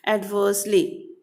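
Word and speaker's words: adversely: आर is like कैसे आपको pronounce करना है, यहाँ पे आर जो है बोलना है लेकिन बहुत स्लाइटली सा बोलना है, ओके, एडवर्सली।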